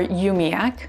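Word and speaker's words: umiaq: q or kayak t-r-a-n-q or tranq u-m-i-a-q or yumiac q-u-l-l-i-q or colic q-a-m-o-t-i-q or kamote thanks so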